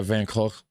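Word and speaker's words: Van Gogh: pronounced like Vancou Vanc with both KH sounds made in the throat like the Scottish lo. Okay. Van Hawk, huh, interesting.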